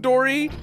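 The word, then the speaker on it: Dorrie: Dory of all names it's d o r r i e so it's even phonetically spelled out Dory yeah but it's not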